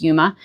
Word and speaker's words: Yuma: I think it's pronounced Yuma.